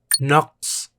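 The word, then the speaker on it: نقص: Naqs. Naqs means lack, pronounced naqs.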